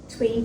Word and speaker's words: Thuy: Thuy. So unless you know another Thuy, there is no way you would know how to pronounce my name. I always use it phonetically. Sounds like Tweety Bird.